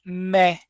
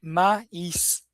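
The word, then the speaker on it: maïs: O trema, gente, ele acaba deixando a vogal com o som dela, né? Como assim? Então, por exemplo, eh, na própria palavra maiz, né? Então, que é milho, então maz. Vou mandar aqui no chat. Eu não vou pronunciar mé como se seria a junção do ai, né? vai ser maíz, né?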